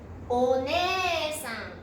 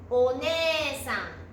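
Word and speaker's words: おねえさん: Từ này cũng có hai nguyên âm giống nhau (e) liên tiếp, vì vậy tôi vẽ một thanh phía trên một trong hai và loại bỏ thanh còn lại. おねえさん. Oneesan. O + nē + sa + n.オネエサン.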